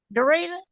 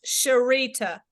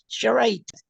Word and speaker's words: Sharita: Dorita? No? Sharita. How you say it? With two. With a SH, Sharita. Oh, Sharita.